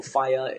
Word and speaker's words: Faiā: So Faiā, if you haven't already heard, sounds like the word fire.